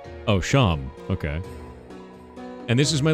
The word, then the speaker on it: Seam: better to do about yourself the name seam pronounced Cham oh sham okay and this is my little shop over